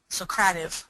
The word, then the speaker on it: Socrative: can pronounce that now Socrative is how they say it um it's a great